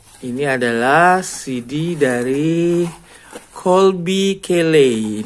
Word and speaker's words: Caillat: adalah CD dari Qolbi Kelley dibacanya kilih yakolbi kali jadi dia ini populer